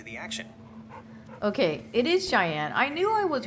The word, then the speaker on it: Cheyenne: Her dog's name is Cheyenne. It's Oh, it pronounced is. just like the city or the Native American tribe. Okay, I was right. Cheyenne.